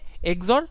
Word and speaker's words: XOR: এ এক্সর বি, তাহলে এটার উচ্চারণটা করে হচ্ছে এ এক্সর বি, উচ্চারণটা কি করে এ এক্সর বি।